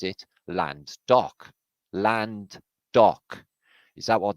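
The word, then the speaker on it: Llandough: the highest peak around and its name is lando right it's about but really we pronounce it land dock land dock is that what this place was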